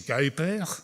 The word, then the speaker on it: Kuiper: Alors, si vous l'avez, s'il vous plaît, prononcez correctement son nom, c'est Kuiper, hein.